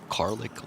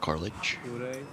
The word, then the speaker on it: Carlich: Do you think it's Carlick like Garlic, yeah, rhymes with- like garlic, yeah. Like garlic? I think so. Not Carlich.